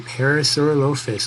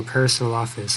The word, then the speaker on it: Parasaurolophus: But yeah, here is the Parasaurolophus, or Parasaurolophus, however you want to pronounce it.